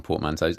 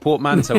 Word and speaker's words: portmanteau: What, portmanteau or portmanteau? Yeah. Well, I always figured it was a French word.